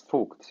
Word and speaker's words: Vogt: So yeah, but just to confirm before I go into, introductions, your last name is pronounced Vogt, right? Yeah, it's Vogt. Yeah, Vogt.